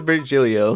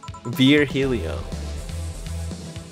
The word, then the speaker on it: Virgilio: rio virgil okay no i'm pretty sure it's virgilio he said as much the last time you came pronunciations are a silly thing society imposes on